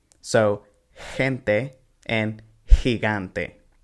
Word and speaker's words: gigante: So, gente and gigante. With gigante, notice that the first he sounds like h, and the second one sounds like g.